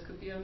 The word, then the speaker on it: cupio: And what does cupio mean? To desire, to want. Good. Yeah, cupio with a U like Cupid.